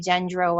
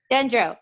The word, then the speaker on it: Gendreau: Today I have Wendy Gendreau on. Wendy, did I say it right? Yeah, you did. You totally nailed it. Gendreau, I got it.